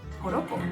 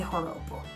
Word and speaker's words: joropo: In Venezuela, we have something called joropo. The joropo, bear in mind that J in there is pronounced as an H, okay? So it's not joropo, it's joropo.